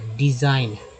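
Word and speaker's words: design: रचना डिज़ाइन, यहाँ GN में जो है N G जो है साइलेंट है, N का उच्चारण हो गया, इसको यहाँ पर ज पढ़ा गया डिज़ाइन।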